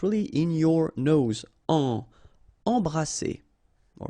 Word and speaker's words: embrasser: Embrasser. All right, and then double S here, it's S. Embrasser.